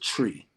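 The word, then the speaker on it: Twi: uh it's it's pronounced it's spelled t-w-i but it's pronounced tree so that's the the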